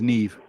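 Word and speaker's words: Niamh: got a friend called Neeve she's got an Irish name but it's spelled like n i a m h and her name is Neeve NE v e that's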